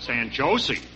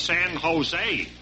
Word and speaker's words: San Jose: So Aki said, San Jose? He said, you don't pronounce it that way. It's San Jose. Because J's are sounded like H's.